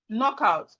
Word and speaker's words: knockout: Knee, knock, no, knuckle, knuckle, night, nail, knee, knock, no, knuckle, night, nail, knowledge, knockout. We also look at some words with silent letter H.